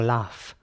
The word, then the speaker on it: laugh: And what's important here as well is that this word is spelled G-H at the end, but it's really pronounced, like an F.